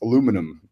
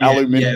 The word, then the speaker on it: aluminum: The way to pronounce that is aluminum, not aluminium.